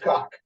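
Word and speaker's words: как: these ladies, you hear the word how, but it's pronounced cock.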